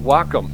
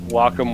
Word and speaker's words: Wacom: WACOM, Wacom. A lot of people pronounce it differently, but I believe it's pronounced Wacom.